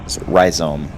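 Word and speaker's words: rhizome: Last time I said I was going to look up how to properly pronounce risome, which is what I've been saying. And uh turns out that that is uh apparently the proper pronunciation ryome.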